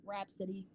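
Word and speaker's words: Rapsody: We don't have versatile rappers no more, and I understand we have rappers like Rhapsody, and that's how you say her name.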